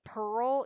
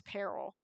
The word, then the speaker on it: Peril: pronoun I mispronounced it no I mispronounced Peril oh my gosh when I was reading book one I always read it as Pearl even though I knew it was Peril I just couldn't stop